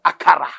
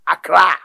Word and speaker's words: Accra: land today called Ghana called akara pronunciation Accra akara was also a